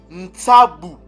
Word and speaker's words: ntabou: Ces mots-là se prononcent ntabou.